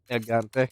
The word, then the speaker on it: Gigante: Gigante. Yeah, because in Spanish, I think the G's pronounced like an H.